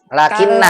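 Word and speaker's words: لكنّ: Lakinna. Kalau Berarti bacanya lakinna.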